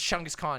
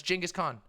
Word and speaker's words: Genghis Khan: genghis khan podcasts it's chungu's khan yeah it's big chungus no it's genghis khan that's how it's said or genghis han somewhere